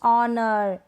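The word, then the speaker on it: honour: आवर, honest, ऑनर, एयर, ये जो spellings है ना यहाँ पर शुरू में है H और वो क्या है, साइलेंट है, नहीं पढ़ा जा रहा, नहीं बोला जा रहा, इसको हम प्रोनाउंस नहीं कर रहे।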